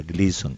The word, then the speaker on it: Gleason: Gleason se escribe gleason se pronuncia Glison.